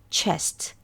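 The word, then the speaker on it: chest: 자 그다음에 가슴 흉부는 체스트 체스트인데 트 하지 마시고 체스 그래서 트 하실 때 여러분들이이 목에다 발음을 어 울리는지 안 울리는지 했을 때 실제로 울리지 않아야 됩니다 체스트 트트 요렇게 끝나야 됩니다 가슴이나 흉부는 뜻입니다 그리고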